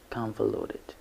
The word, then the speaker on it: convoluted: your learning so moving on to combo loaded convoluted it has four syllables and it is pronounced like in context